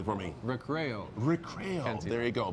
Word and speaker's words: Recreo: Recreo.